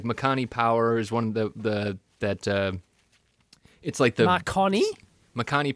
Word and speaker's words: Makani: No, Makani, M-A-K-A-N-I. Oh, okay, right. They're these. Oh, that's what it was, Dave. I forgot. Oh, Marconi.